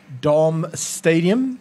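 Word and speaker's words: darmstadtium: quickly just give him it's darm Stadium y DM start but spelled with a DT at the end D very German it's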